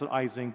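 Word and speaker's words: Ising: a hundred years old it's called the easing machine most Americans pronounce izing but the Germans always get upset the easing machine is a way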